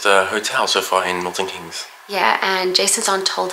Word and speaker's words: Keynes: We're here in Milton Keynes. Keynes. Always say it wrong.